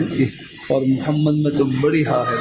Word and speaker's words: محمد: بعض دفعہ تلفظ میں کچھ فرق لگ جاتا ہے، اصل محمد نام ہے، تو اگر نام رکھنا ہو تو پھر محمد نام رکھیں. الحمدللہ. محمد کا مجھے معلوم نہیں کیا معنی ہے، لیکن اصل جو ہے محمد بہت چھوٹی ہا ہے یہ، اور محمد میں